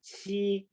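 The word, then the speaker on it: 七: Now this Chinese character, Leo, number 7, Qi, Q, right?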